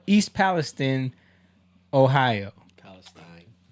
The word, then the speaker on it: Palestine: Palestine. They call it Palestine. They don't pronounce it Palestine. I've heard it the other way too.